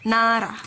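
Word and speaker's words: 나라: It is ral, ral, ral, na ra, na ra, na ra, na ra, na ra.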